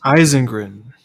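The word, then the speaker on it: Ysengrin: How do you pronounce his name again? It's Eisengrin.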